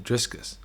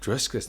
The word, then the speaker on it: Dricus: i thought to myself how do you get my name driskus like i can understand this function like to pronounce it is harder for the american people but driscus there's no s and then we i